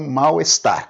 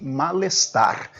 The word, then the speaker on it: mal-estar: Mas você pode pronunciar, e até melhor que pronuncie, mal-estar. Ela teve um mal-estar súbito hoje, um mal-estar. Você pode pronunciar mal-estar ou então mal-estar tudo junto. É preferível que você pronuncie tudo junto, mas grafar nunca, sempre separado.